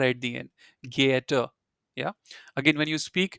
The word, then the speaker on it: geehrter: R at the end, Geehrter. Yeah. Again, when you speak, I mean, I told you in the last session that you should never not try to pronounce the R at the end.